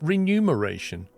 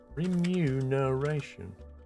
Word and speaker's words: remuneration: right re reu no isn't it renumeration I got to check that now how do you spell that is that correct renumeration remunerate that's impossible to say remuneration remuneration blind me God no way that is the correct spelling remuneration that's a weird placement